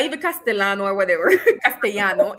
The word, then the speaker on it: castellano: Castano. See? Um, so yes, Shano. It's not even Castellano or whatever. Castano, it's cast because double L and Y in Spanish is automatically pronounced as sh, right?